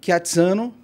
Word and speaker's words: Chiazzano: o t z né T mais Z é é como se fosse a pizza então é o katano katano E então é